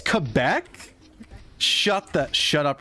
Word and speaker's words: Quebec: I feel like you're not supposed to pronounce it like a Q. Quebec. Yeah, it's Quebec.